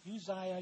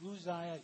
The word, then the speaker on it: Uzziah: Now, you can pronounce it Uzziah, you can pronounce it Uzziah. Either one is correct.